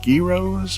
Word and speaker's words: gyro: They're called gyros or gyros? I know I'm mispronouncing it. How would you pronounce it then? Gyro.